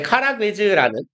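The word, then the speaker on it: Karagöz: 이제 카라괴즈라는 뭐 이제 유럽 애들이 많이 쓰는 표현인데요. 이거 뭐 umlaut라고 해서 이게 의 정도의 발음이 돼요. 단모음을 복모음으로 만들거든요. 그래서 오에 umlaut가 붙으면 우리말로 얘랑 발음이 같대요.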